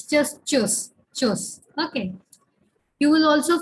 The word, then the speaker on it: tschüss: It is tschüss. The T is silent.